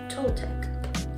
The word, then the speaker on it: Toltec: Pronunciation. Toltec. Toltec.